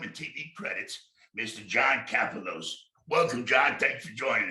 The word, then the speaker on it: Kapelos: Did I say that right, Kapelos?